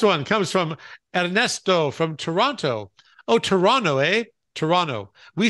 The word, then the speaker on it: Toronto: We don't say Toronto, do we? Well, Toronto. They say Toronto. We say Toronto. You know, we don't, our T's, we kind of just like, we like race through T's.